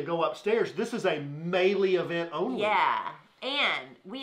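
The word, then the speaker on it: Meili: get drinks because they're only serving Mele is pronounced melee Mele even though it's spelled m a i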